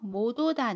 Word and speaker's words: 못 오다: 딕을 3로 바꾸고 그 뒤에 모음 을 붙여서 발음합니다 그래서 모도 다 는 모두 다 라고 발음 해요 반대로 못